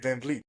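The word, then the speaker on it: VanVleet: and really got approved also uh Fred Vanble if I say his name right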